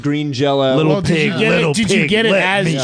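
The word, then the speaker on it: Green Jellÿ: I think I got Green Jelly, or it's pronounced Green Jello. Did you get it as Jello or Jelly? It had a Y, but I think the thing with them is you always pronounce it Green Jello.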